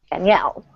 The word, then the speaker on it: Danielle: This spelling is the girl version, and it's Danielle. Danielle.